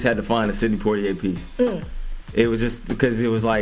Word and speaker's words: Poitier: It's Sir Sidney Poitier. Let's say it correctly. Sir Sidney Poitier. Sidney Poitier. You gotta say it like that, Poitier.